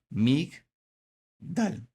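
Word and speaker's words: מִגְדָּל: Entonces, como ya desapareció la E, sería mig. Y sigo a la siguiente sílaba grande que sería dal. Mig, dal.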